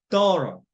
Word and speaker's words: thorough: 난다는 것이고, 모음 다음에 GH, 다음에 자음이 오면 이 GH 소리가 안 나요. 그렇죠. 그래서 thorough.